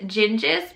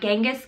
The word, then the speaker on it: Genghis: I ended up going with Gengis because some of the historian podcasts that I like to listen to, that's how they said it would actually translate. Not Genghis Khan, but Gengis Khan.